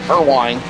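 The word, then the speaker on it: Perwin: Pure perine I believe is how you say it. P E R W I N. Per wine.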